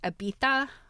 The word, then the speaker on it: Ibiza: I think the reason why certain parts of Spain, in the names, like Ibiza being one, is actually pronounced Ibiza, so the Z is a TH, is because there was a Spanish ruler that had a lisp, and so everybody started talking like that.